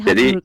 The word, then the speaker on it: Hamburg: Ee ternyata bacanya Hamburg bukan Hamburg. Oke. Hamburg. Oke. Jadi, iya. Bahasa Jerman itu seperti bahasa Indonesia. Ee hurufnya dibaca seperti hurufnya, bukan U dibaca A kayak bahasa Inggris.